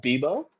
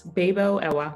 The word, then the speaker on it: Bebuo: entrepreneurs other successful entrepreneurs and here we have bibo I I mispronounced your name no worries no one no worries it's babo babo oh beautiful name beautiful name